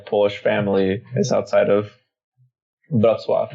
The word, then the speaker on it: Wrocław: So my whole Polish family is outside of Wrocław, is how it's pronounced in Polish.